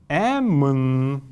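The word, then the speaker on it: әмн: Эмн. Эмн. Эмн. Вот этими красными кружочками я обозначаю те неясные гласные, которые при произнесении произносятся, но на письме не отражаются.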